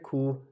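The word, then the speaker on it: 구: अच्छा जी, 9 को कहते हैं खू। अब ये गियक ऊपर है, खे की आवाज़ देगा, नीचे ऊ है, ये खू 9।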